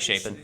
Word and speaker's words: Shapen: Yeah, Blake Shapen.